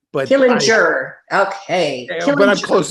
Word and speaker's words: Killinger: us at Sig University so Brad am I pronouncing your last name correctly uh killing jur but killing jur okay but I'm close it's close enough for